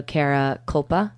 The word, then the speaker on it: Kara Kulpa: Again, we're in studio with Kristen Ford and also Kara Kulpa.